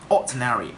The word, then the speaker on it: ordinary: can pronounce something like ordinary. Okay, ordinary. We still put the word stress in the first syllable, but we got a little difference between the third syllable.